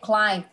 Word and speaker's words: climb: Cái chữ này climb. Khi mà đọc bình thường nó không có ed á, thì con đã đọc là climb rồi. Cái âm b này là con không có đọc nè.